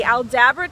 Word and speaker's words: Aldabra: I said it right, the Aldabra tortoises.